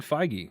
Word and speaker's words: Feige: determined and that's a Kevin how do you pronounce his name I was looking up JD Dillard Uh Kevin feige feige okay so Kevin feige is also getting